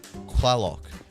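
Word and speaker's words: Tlaloc: now agriculture yes indeed it's like you're saying clarlock it's like a horse clock clock clock it's actually spelled with a tl plus which is a bit of a funny thing but um that was pretty common in in um aztec in the aztec language oh yeah all right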